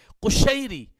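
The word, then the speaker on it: قشیری: سے پہلے سمجھیں گے۔ کشیری، قاف، قاف جس کو ہم قاف کینچی والا کہتے ہیں، قاف 2 نقطوں والا، اس کے اوپر پیش آئے گی، ضمہ آئے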